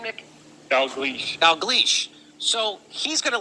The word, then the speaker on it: Dalgleish: Here's one of them, Professor Angus, I can't pronounce his last name. How do you say his last name, Nick? Dalgleish.